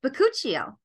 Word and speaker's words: bakuchiol: It looks like bakuchiol, but it's pronounced bakuchiol.